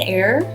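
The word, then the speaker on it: Eyre: E Y R E like Jane air.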